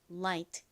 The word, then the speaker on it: light: 지금 배운이 빛 가벼운이유이 단어는 한국어 라에 더 가깝게 발음이 됩니다 자 요거 한 번만